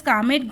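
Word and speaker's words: Calmette: Bacillus कामेट ग्वारिन है ना, इसमें एल साइलेंट है।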